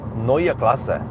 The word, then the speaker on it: Neue Klasse: Okay, so Neue Klasse, alright, that's how it is. Need to be able to pronounce it correctly, because I don't know how Germans, how Americans will call it.